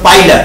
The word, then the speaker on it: Pila: শামুক, শামুকটা হলো পাইলা গ্লোবোসা, ওটা উচ্চারণটা পিলা না, উচ্চারণটা হলো পাইলা, PILA, PILA।